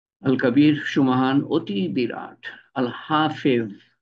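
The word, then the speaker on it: الحفيظ: আল হাফেজ, হাফেজ এর উচ্চারণ কঠিন। তোয়া জোয়া, জোয়া, তোয়া জোয়া, আল হাফেজ।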